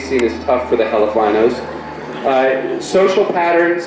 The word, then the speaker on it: Elephino: Next, I'd like to introduce Elephino, pronounced Helifino.